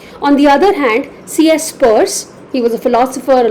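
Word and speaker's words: Peirce: by an American philosopher C.S purse it is spelled as p-i-e-r-c-e Piers but it is pronounced as purse CS purse basically uh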